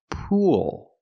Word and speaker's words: pool: pool pool it's pronounced pool so what's the difference I'm using the long ooh sound like food and moon poo then I'm linking to the dark L where I tense my tongue all together po there's